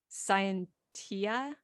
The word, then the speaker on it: Scientia: And then we have another one of Noctis's close friends, which is Ignis Scientia. Ignis scientia in the ecclesiastical pronunciation.